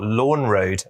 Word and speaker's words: Lorne: about in voice so in London you've got Lorne Road la WN and lawn road L o RN e they are not next to each other and it can be confusing if you talk to a voice assistant that thinks they are the same if I say to